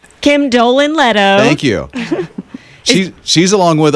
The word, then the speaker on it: Kim Dolan Leto: And Kim Dolan Leto, I said her name wrong. Kim Dolan Leto.